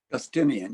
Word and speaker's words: Justinian: And through an extraordinary ascent at 28 years of age, she married Emperor Justinian. Is that how you pronounce it, James? Justinian, yes.